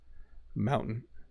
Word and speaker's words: mountain: The ending is like a mute sound. So yeah, it's like the word ends, right? Button. Button. Like as I'm saying it, Manhattan, mountain.